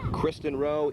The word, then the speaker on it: Kristen Rowe: wall of both teams christen row is correct pronunciation always want to make